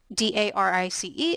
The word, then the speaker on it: Darice: My name is Darice, but the way it's spelled, D-A-R-I-C-E, I get a lot of mispronunciations of my name. I put in there that it's Darice, rhymes with Paris.